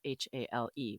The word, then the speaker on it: Hale: And when I saw Agent Hale, Hale is spelled H-A-L-E, which is the Hawaiian word for house, but it's pronounced Hale.